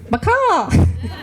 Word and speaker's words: BICAW: may not know you're actually pronouncing it wrong it's macaw and that's